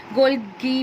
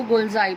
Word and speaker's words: Golgi: Golgi भी बोलते हैं, कई इसको गोल्जाई भी बोलते हैं, तो pronunciation is different according to you. गोल्जाई भी बोल सकते हैं और गोल्गी भी बोलते हैं कई लोग. तो अभी हम इसको गोल्जाई प्रोनाउंस करेंगे.